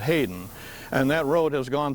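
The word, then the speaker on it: Headen: All they spelled it H-E-A-D-E-N, but they pronounced it Hayden.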